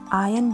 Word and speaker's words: iron: Iron the clothes. यसमा R silent हुने हुनाले यसलाई उच्चारण गर्दा iron the clothes भनिन्छ.